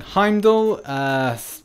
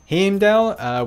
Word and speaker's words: Heimdall: so there we go Chris Hemsworth is saying Heimdall we've got the other pronunciation saying hemdale we've got another pronunciation that's him Dec different pronunciations of different things the icelandic is closer to the Norse pronounciation and I don't I